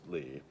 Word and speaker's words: Lie: Lie sopus lee but it is pronounced lee.